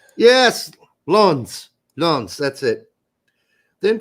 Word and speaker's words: Lens: It's pronounced lawns, apparently. Yes, lawns.